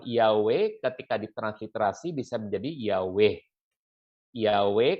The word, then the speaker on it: Yahweh: iya yah ini untuk dua huruf permulaan harus dibacanya yah ya sehingga lebih memilih bukan yang ini yeah Bukan tapi Yahweh iya iya iya dulu